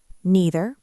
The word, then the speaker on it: neither: Same with neither. Neither or neither.